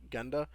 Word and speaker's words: GENDA: arcade business to the company called Genda, I think is how you would pronounce it, Yeah.